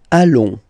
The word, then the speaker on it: allons: Nous allons. Final S not pronounced. And then when you get this O-N combination, you get this nasal on, really in your nose, okay?